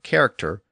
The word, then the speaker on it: character: So anytime we see an English word which is spelled with CH at the beginning, and that CH represents the K sound, like choir or character, that's a clue that